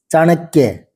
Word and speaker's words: चाणक्य: दूसरी बार बोल दूंगा चाणक्य और यह की आवाज पर जोर पड़ेगा पर चाणक्य तो यह